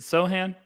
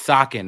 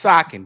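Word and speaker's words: Sochan: to germany suham sohan however you want to pronounce it can we what is it how is it is it sohan bro it's sakin all right let's move on chan that's sacking guy what's up that's sakin give me sakin okay well what is it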